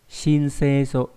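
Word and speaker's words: 申請書: Âm on'yomi đọc là shin, ví dụ trong từ shinseisho, shinseisho là gì nhỉ?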